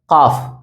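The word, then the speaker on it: ق: பாருங்க காஃப் காஃப் யக் காஃப் Urdu காஃப் அப்படின்னு சொன்னா யக் கா ஆ இந்த காஃப் சொல்லும்போது இந்த ரெண்டு தொண்டை குழி இருக்குதுல்ல அதுல டப்புன்னு ஒரு வெடி வெடிக்கணும் அது ஒரு அதிர்தல் தெரியணும் காஃப் காஃப் காஃப் காஃப்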